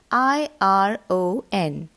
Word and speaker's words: iron: Yeah, the spelling is IRON, but its pronunciation is iron. The letter R is silent.